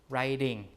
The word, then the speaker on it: writing: But when you do writing when you change it to the ing form this T is not a stop anymore right it becomes more like an R right. So people use this kind of hook like to represent the sound there right to become writing right then.